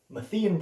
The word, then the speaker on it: Matthean: mathen priority sometimes pronounced methane priority is the view that